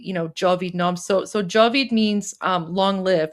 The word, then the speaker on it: Javid-nam: It's Javid-nam. So it's similar to Javid Shah, except instead of Shah, it's Nam. Nam means name, so N-A-M. So Javid-nam.